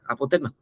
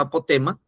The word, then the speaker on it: apotema: Pero si nos examinamos la sílaba tónica de la palabra apotema, se encuentra en T, no se encuentra en A. No se encuentra en la primera A, sino se encuentra en la sílaba T, o sea, en la e, ¿no?